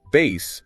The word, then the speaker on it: bass: First the fish pronounced bass to rhyme with pass. Like catching a largemouth bass. Exactly. Second, a low- pitched voice or musical range pronounced bass to rhyme with face